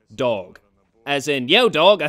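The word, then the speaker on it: Dawg: And yes, his name is spelled D-A-W-G, Dog.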